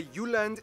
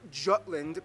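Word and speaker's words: Jylland: so here we go Denmark is made of the you land not Jutland peninsula that connects to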